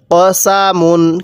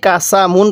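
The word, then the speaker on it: قَسَمٌ: মিম দুই পেশ মুন কসা মুন কিভাবে শিখবো কসা মুন অনেকেই কাসাম মুন পড়ি ঠিক আছে এরকম ভাবে সহি শুদ্ধ হবে না কফ জবর ক পড়তে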